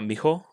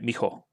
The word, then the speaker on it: Miho: Advice is saying miho, naturally, is breathe out the ho instead of blowing it out. So I'm trying it now. Mijo, like just trying to make it like one syllable almost, right?